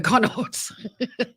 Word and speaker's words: Connacht: How do we pronounce this sports team? Connacht. Connaught. Oh, Connaught. Sharks 12, Connaught 13, Munster 10 against the Stormers at 3.